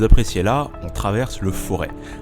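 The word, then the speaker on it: Forez: Sur les images que vous appréciez là, on traverse le Forêt, avec un Z, mais le Z ne se prononce pas, vous observez que je fais quelques efforts.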